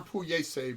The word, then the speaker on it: pugliese: One of our favorites is Italian pugliese bread. That's spelled pugliese, Pugliese.